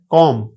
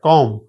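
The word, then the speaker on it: comb: लिखने में आएगा जैसे कौम कंगी है कौम बी नहीं आती जब एम और बी आए तो अक्सर बी साइलेंट हो जाती है आप देख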